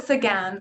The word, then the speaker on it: Sequin: joined today with celine uh by guest speaker selena sequin am i saying your last name correct yeah multiple pronunciations again but oh sagan okay salinas again who is a career coach at norquest college